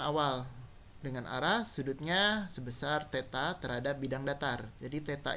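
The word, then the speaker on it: θ: Sudutnya theta. Jadi itu yang ada bentuk O dicoret itu bacanya theta ya.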